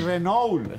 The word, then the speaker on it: Renault: Renault, en francés. Francés. Ah, en francés, Renault. Con el eje que viene de aquí. Gutural. No es Renault, ni Renault, es Renault. Sí, ah, sí, exacto.